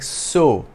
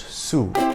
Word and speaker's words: sew: them a heavy workload do note that the word spelled s-e-w is pronounced like so and not Sue to get the sack